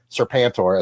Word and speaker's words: Serpentor: If you like Serpentor, as it's pronounced, I'm quite certain, you'll Serpentor.